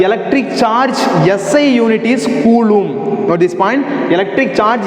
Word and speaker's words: coulomb: is that pronunciation is column not column the pronunciation is coulomb c o u l o m b coulomb okay the s unit of electric charges